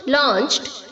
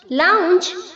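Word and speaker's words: lounge: लाउंज, लाउंज्ड, लाउंज्ड। बहुत सारे बच्चे यहाँ पर इसे लॉन्च बोलते हैं, जो कि गलत प्रोनाउंसिएशन है बच्चों। लॉन्च नहीं होता है, लाउंज होता है, लाउंज।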